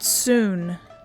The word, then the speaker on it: Soon: The word looks like sun, but it's pronounced soon.